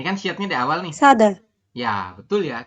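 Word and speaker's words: 사다: Sada. Ya, betul ya. Kita bacanya adalah S. Ya, siotnya dibaca S. Sada, seperti itu dibacanya Yorubun. Sada.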